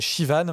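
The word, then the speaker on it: Siobhan: Et donc ce personnage s'appelle Shivan, mais s'écrit Slobhan.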